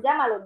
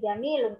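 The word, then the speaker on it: جميل: Bukan jamalun ya, tapi jamilun. Kalau jamilun itu pasti ada yaknya, ada kasroh. Yaknya sukun ya. Jadi bacanya jamilun.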